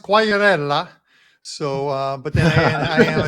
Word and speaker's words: Quagliarella: And it's pronounced Quagliarella.